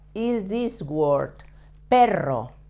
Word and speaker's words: perro: You have to put the tip of your tongue touching the front of the roof of your mouth and without touching the palate with the rest of your tongue.